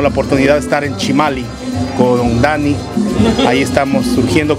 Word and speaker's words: Chimalli: redes sociales mariachi chimali se escribe chimalli como con doble l se pronuncia chimali y el número de